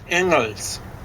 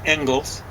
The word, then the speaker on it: Engels: In Paris in 1844, they meet young Friedrich Engels. Or as you mispronounce it, Engels. It's probably something more like Engel.